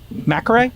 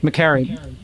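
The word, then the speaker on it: Makary: We dropped an incredible interview with FDA Commissioner Marty Mcare. Am I pronouncing correctly? McCary.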